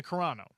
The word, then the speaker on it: Carano: probably fewer people in the mainstream know, Gina Carano. I was wondering if I had butchered her last name or if I got it or if I nailed it.